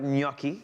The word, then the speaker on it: gnocchi: what i like about gnocchi that the g is silent but with u the